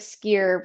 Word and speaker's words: skyr: You know, what made you go with skier versus a different type of product? Yes, you said it right too. Skier. I always think of skiing, right?